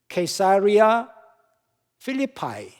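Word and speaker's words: Caesarea Philippi: 가이사랴 빌립보라고 나와 있습니다 ksaria 필리파이 영어로는 그렇게 발음을 하더라고요 지금은 타네아스라고 하는 지명이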